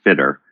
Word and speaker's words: Fitter: And so the correct pronunciation of the app is actually Fitter. So think of it as having an E in there, so Fitter.